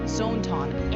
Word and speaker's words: Zoneton: Her mascot, Zoneton, It's pronounced Zone Ton.